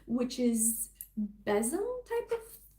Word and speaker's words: besom: The next one she talks about is the besom, or I pronounced it besom. She has it pronounced as besom.